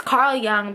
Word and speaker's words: Jung: test from Carl Jung it's Carl Jung but I like to say Jung because it's how it's spell it just makes sense in my brain so I have to